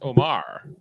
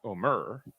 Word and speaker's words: Omar: I was the other way, because if I look at all the official stuff, it's always spelled Omar, and that to me is Omar, not Omer.